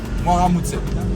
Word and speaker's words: Mwaramutse: on dit bonjour c'est Mwaramutse. Donc voilà. Dites-moi si je le prononce bien en commentaire. Hein. Voilà, merci pour ça. Anaclé a dit que j'ai bien prononcé, vous voyez, il a validé.